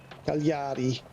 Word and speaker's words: Cagliari: Honey, how do you pronounce Cagliari? Cagliari.